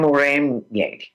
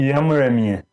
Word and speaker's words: Yamuremye: I am Muremye. Close enough. Muremye? Okay, no, you say it. Tell us, how do you say it? Yamuremye. Yamuremye. Yes, perfect.